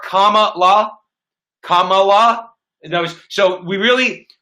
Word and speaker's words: Kamala: want to mention that her name is comma like the punctuation mark comma law kamala knows so we